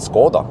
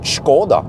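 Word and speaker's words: Škoda: say here okay skoda in norwegian we call it skoda what's called ms gordon skoda that s has a little thing over it and so i was told it's actually called skoda skoda something like that you have to the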